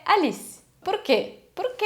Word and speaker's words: Alice: Só que atenção, se o seu nome acaba em E, esse E em posição final, ele nunca vai ser pronunciado. Então, por exemplo, Alice. Não é Alice, é Alice.